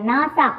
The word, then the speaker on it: NASA: group of words and it is pronounced as a word, not letter by letter. புரியுதா? இப்போ example வச்சு இதை பாருங்களேன். நாசா, இதை வந்து நாசா தான் சொல்கிறோம், NASA அப்படின்னு நம்ம சொல்லலை.